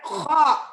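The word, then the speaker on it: خ: Kalau di atas titiknya kho. Kayak orang apa? Kalau mau muntah. Kho. Jadi pangkal lidah naik ke atas langit-langit. Kho. Naik ke atas langit-langit sedikit. Kemudian hembuskan dengan nafas. Ya, kho.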